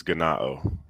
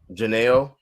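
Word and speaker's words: γεννάω: He's pronouncing the J, or no, he's pronouncing the G as a J.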